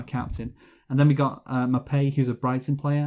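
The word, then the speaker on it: Maupay: And then we got Mapei, who's a Brighton player, and name rhymes with I'm gay.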